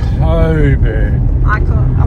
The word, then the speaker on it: Cockburn: Coburn. Well, it's spelled Cockburn.